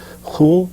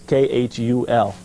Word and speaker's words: khul: I guess the Arabic word for it is khul or something like this. I have a difficult time pronouncing it. They often spell it phonetically as K-H-U-L, K-H-U-L, sort of like a khul.